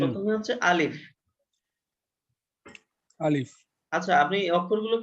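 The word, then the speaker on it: ألف: আলিফ। আলিফ। আলিফ উচ্চারণ করার সময় শেষে আপনার ফা আর একটা উচ্চারণ ফ হবে।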